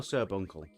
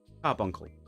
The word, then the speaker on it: Carbuncle: Is it pronounced Carbuncle or Cerbuncle? Carbuncle.